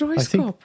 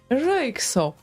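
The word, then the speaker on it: Röyksopp: Roop Roy soop Roop I always thought that it's Roy scop I I think they're Icelandic or something no I knew it's something Nordic seriously did I misspell it all my life Ro soop yes I did oh my God where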